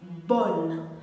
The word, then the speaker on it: bon: masculin singulier commençant par une voyelle il se prononce bonne vous avez sans doute l'habitude david y ait